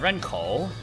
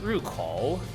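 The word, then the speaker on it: 入口: So I was like, okay, that's Ren, and then you have Renkou, entrance. But then I later learned that it's actually pronounced Rukou.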